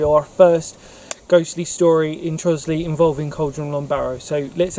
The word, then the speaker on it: Trottiscliffe: is exclusively about the village of trosley or trottus cliff depending on how you say it i'm a local boy so for me it's trosley it's just easy to sort of say we're going to talk